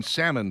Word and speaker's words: salmon: Mispronouncing salmon drives me crazy. The L is silent. Salmon. That's how it should be. Like S A M.